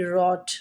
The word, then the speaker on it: wrote: जैसे WRONG, रॉन्ग, WRIST, रिस्ट, WRITE right, WROTE रॉट, right की second form रॉट है, form of verb रॉट, right रॉट रॉट, right रॉट रिटन।